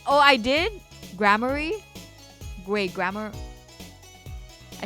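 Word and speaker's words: Gramarye: How to pronounce Grammari. Grammari. It's Grammari.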